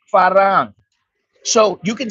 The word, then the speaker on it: farang: farang you don't say Fang you don't say Fang the proper way is farang so you can say